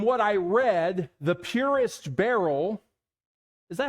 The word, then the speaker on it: beryl: But from what I read, the purest beryl, is that how you say it?